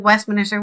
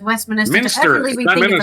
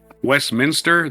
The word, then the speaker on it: Westminster: I urge the Labor government at Westminsterly approach. Huh? It's pronounced Westminster. It's not Minister. Westminster. There's no extra I. You're putting an extra I in there.